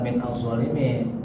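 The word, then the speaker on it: مِنَ الظَّالِمِينَ: huruf jar min azzalimin digabung jadi minzalimin ya bukan min azzalimin betul dibaca begitu boleh tapi kurang enak ya bacanya karena dua huruf mati bertemu maka dikasih bunyi sudah.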